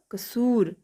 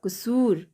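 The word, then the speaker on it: क़सूर: दूसरा है क नुक्ता स दीर्घकार र कसूर। क नुक्ता स दीर्घकार र कसूर।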